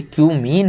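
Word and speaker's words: cumene: केवल कि क्यूमीन से, इसको कुछ और मत पढ़ लेना भाई, ये क्यूमीन है। बहुत सारे लोग समझ रहे हैं क्या क्या पढ़ लेते हैं, है ना, तो इसको वही पढ़ें जो इसका प्रोनाउंसिएशन है।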